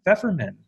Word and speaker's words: Feferman: Bradford Carlton they have a very special guest with us I have been ever men that's how I pronounce it correct you got it perfect hi